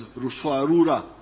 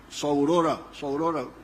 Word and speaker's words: Ruswarura: There was a notorious chief in Buzinza, known as what I came to understand as Ruswarura. When you read, I think it is Speak, Understand, they write Saurora, but they were mispronouncing the name.